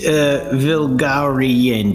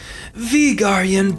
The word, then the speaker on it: Vigarian: Oh, Miss Vilgarian, did I say it right? Vigarian, but it's okay.